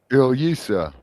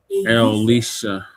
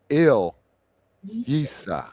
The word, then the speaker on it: Ilyasah: Ilyasah. Ilyasah. Ilyasah. Elisha. No, Ilyasah.